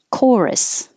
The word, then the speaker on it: chorus: or i like gardening chorus the ch sounds like a okay because it's from greek chorus performance i put two